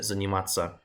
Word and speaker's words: заниматься: way I pronounce it, заниматься. It's as if that's not there. Because when you have that ending, it's just pronounced tsa, like that.